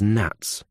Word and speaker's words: gnats: I want you to think of them as gnats with a silent G.